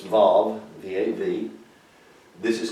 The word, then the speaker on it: Vav: This is called the Vav, like a valve, but it's Vav, V-A-V.